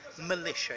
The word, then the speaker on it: militia: Okay, militia, but militia. It's got a schwa sound at the beginning.